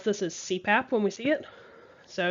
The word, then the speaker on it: CPAP: so this is your abbreviation of initials that can be pronounced as a word this is very common